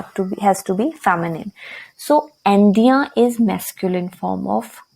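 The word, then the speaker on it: indien: And the pronunciation is also changed. Why? Because n is followed by e, so we will pronounce the n. It would be Indian.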